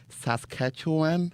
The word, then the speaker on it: Saskatchewan: He's from Warman, Saskatchewan.